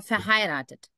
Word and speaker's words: verheiratet: verheiratet veritet verheiratet also du musst auf Ei Akzent ja diese Betonung machen also nicht verheiratet nicht